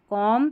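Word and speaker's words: comb: एमबी जो है देखिए आखिर में एमबी ऐसे आएगा और इसको म पढ़ेंगे क्योंकि बी साइलेंट है। लैम कॉम थंब क्लाइम ऐसे बी का उच्चारण नहीं होगा।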